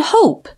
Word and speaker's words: hope: Look at the words hop and hope. By putting a silent E at the end of hop, the vowel sound changes from short O, ah, to long O.